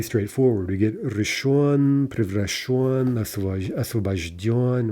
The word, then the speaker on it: освобожден: Освобожденный gives освобожден, masculine, освобождена, освобождено, освобождены, right? Again, end stress, and maybe a little bit hard to say at first, right?